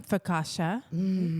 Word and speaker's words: focaccia: Some focaccia.